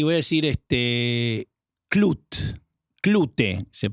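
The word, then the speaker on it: Klute: Sí, voy a decir este Clut, Clute se pronuncia de Alan J Pacula, una película con Jane Fonda y Donald Saterland, una película de detectives.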